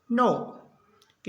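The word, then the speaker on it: knock: एन का होगा knowledge के एन सी के इसको पढ़ेंगे नॉक के का उच्चारण नहीं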